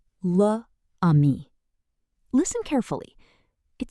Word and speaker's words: l'ami: Instead of saying luh ami, French says l'ami, the friend.